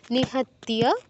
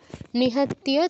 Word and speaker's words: নিহত্য: প্রথম থেকে আবার পড়ি নিহত্য কোন দীর্ঘস্বর নেই দ্রুত বলতে হবে নিহত্য ত এর সাথে যে ইয় ফলাটা আছে এটা ঠিক করে উচ্চারণ করবেন নিহত্য তারপর ধারতা রাষ্ট্র ধারত